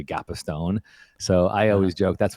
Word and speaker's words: Gapastione: kind of interesting because you pronounced your last name gapa Stone right but when I